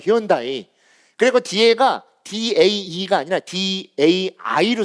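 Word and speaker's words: Hyundai: 현대자동차도 예전에 잘 팔게 하려고 히온다이라고 한 거. 히온다이.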